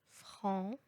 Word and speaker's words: franc: Mais il y a des fois où il n'est pas prononcé. Par exemple, à la fin du mot blanc, franc et bon, هنا حرف السي لا ينطق.